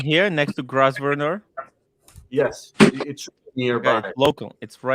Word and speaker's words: Grosvenor: It's a silent S in the name of the hotel. Grosvenor.